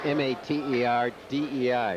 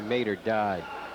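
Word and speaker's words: Mater Dei: Pronounced M-A-T-E-R-D-E-I. Maybe Mater died. I like Mater D.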